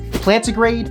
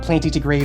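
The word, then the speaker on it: plantigrade: separated into two categories plant to grade and digitrade styles and yes that's how they are pronounced it's not planty to grade or digigrade it's plant grade and digit grade got it good plant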